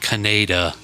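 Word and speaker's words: Kaneda: Canada.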